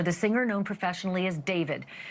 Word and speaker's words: D4vd: For the singer known professionally as David, spelled D4 VD. I know it's strange, but it's pronounced David.